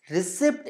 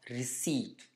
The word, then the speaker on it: receipt: In fact, receipt is an incorrect pronunciation of receipt.